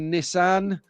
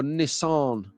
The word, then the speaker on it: Nissan: A Group C Nissan 390 or Nissan. So the Americans, they pronounce this Nissan.